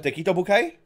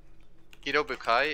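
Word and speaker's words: Kido Butai: The Tekito Bukai? How do you spell that? Kido Bukai is K-I-D-O and then B-U-T-A-I.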